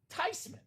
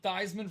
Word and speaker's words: Theismann: Theismann in the house. So in case anyone out there has been calling him Theismann for all these years, now you know. You're living a lie.